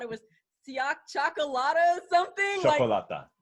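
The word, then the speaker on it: Cioccolata: Chocolata. Chocolata, okay.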